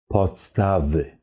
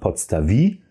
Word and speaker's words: podstawy: Podstawy. So it's important to have this y sound at the end of the word. So it's not podstawi, it's podstawy.